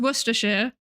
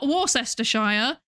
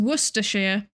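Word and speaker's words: Worcestershire: Actually this this is pronounced worershir. It is not warstershire as I have heard many people say. It is worshshire.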